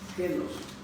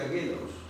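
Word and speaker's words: γένος: En Mateo 13:47 la palabra genos, escribe genos, con G, genos, se pronuncia genos.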